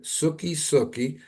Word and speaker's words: Suki Suki: Love by the band Suki sukii I hope I hope I pronouncing that right right Suki Suki you got it okay yeah Suki Suki